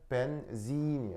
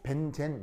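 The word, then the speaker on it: benzene: 그럼 뒤에 붙이면 벤진이 돼요. 벤진 알겠죠? 근데 이거를 콩글리시로 벤젠 이렇게 쓰는 거예요. 어, 어디서 들어온 발음이겠어요? 일본. 알겠죠? 일본을 통해 들어온 발음이 벤젠이에. 벤젠은 근데 일본식 콩글리시 발음이고요. 영어 표현은 벤진.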